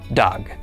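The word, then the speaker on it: דג: The dolllet makes the sound duh. Then the comets underneath it makes the sound a. And finally, the gimmel at the end makes the sound g. Altogether this is pronounced dog.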